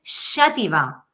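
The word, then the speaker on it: Xàtiva: es nuestra pronunciación porque por ejemplo jativa en valenciano es con x al principio y esa pronunciación es xativa O sea si hiciéramos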